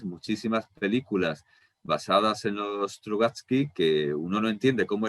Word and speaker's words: Strugatsky: Sí, Strugatsky, lo he pronunciado bien.